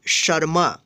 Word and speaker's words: शर्मा: यहाँ पे देखिए श, फिर यहाँ पे माँ के ऊपर रेफ है, तो इसको इस रेफ का उच्चारण श के बाद करेंगे शर्मा।